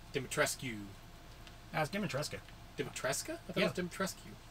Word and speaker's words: Dimitrescu: that's right i finally figured out how to pronounce her name dimitrescu that's demonstrating david tresska rescue no they they